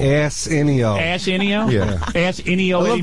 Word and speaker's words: Arsenio: I don't think you're pronouncing his name right. What is his name? Arsenio. Arsenio.